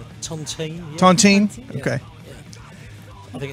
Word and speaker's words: Tontine: is s OD the new one am i pronouncing the name right Tontine okay I think it's French Tontine okay spear